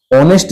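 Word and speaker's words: honest: सिखाते हैं हम आपको ऑनेस्ट जो शब्द है इसमें लगता भले ही एच है लेकिन इसका उच्चारण होता है अ से मतलब स्वर से और अगर स्वर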